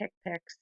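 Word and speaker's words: HCPCS: assignment so we' talked about hipic before it's pronounced hipic it is level two we have two levels level one is the CPT hipic level two is National codes so one thing to remember with hick Pics level one that they're going to be the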